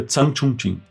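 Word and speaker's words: Tseng Chun-hsin: Ele pega o taiwanês Zhang Chunqing, assim que escreve Chun Xin Tseng, mas a pronúncia é Zhang Chunqing.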